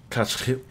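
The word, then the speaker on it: Košice: The actual Slovak pronunciation is Kachitse. The CH in Kachitse is it's like that kind of sound.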